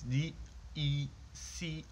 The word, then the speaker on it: Decize: So I made it to Decize. I think that's how you pronounce it. It's Decize.